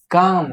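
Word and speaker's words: calm: काम। सबसे पहले इसको बोलते क्या है? इसको क्लेम नहीं बोलते हैं। इसको बोलते हैं काम। ठीक? कि ये जो एल है ये साइलेंट है।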